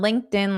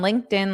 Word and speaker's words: LinkedIn: And there's a lot of incorrect pronunciation because of the connected sounds. So, notice my pronunciation. I'll say it fast at first. We connected on LinkedIn last Tuesday.